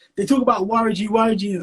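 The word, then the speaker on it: Waragi: Waraji is like, so what you need to learn about Ugandans is we pronounce our R's like L sometimes, yeah?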